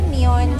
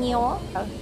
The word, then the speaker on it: Nyon: Hello, we are still in Nyo. Nyo pala yung pronunciation niya.